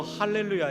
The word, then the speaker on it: 알렐루야: 달라는 찬양이 내역에 보머 알렐루야 가 나와요 원래 히브리어 할렐루야 에서 헬라어로 할렐루야 가 옮겨 졌는데 수표가 h 발음 나는 수표가 라틴어의 는 없다 보니까 알렐루야 로 바뀌었어요 똑같이 하나님을 찬양하라는 50만